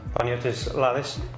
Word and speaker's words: Panagiotis Lalis: Myddleton Radio and Panagiotis Lalis is, did I get that right?